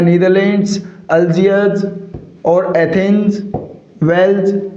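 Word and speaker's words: Algiers: तो जो name of proper nouns है साथियों, उसके अंदर यूनाइटेड स्टेट्स की बात की, फिर नीदरलैंड्स, फिर अल्जीयर्स। इसके अंदर आर क्या रहेगा साथियों? साइलेंट रहेगा।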